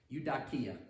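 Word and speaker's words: εὐδοκία: for his good pleasure the greek word is you dakiya excuse me you dot kia i actually i spell this phonetically because like terrible greek you dakia it means good will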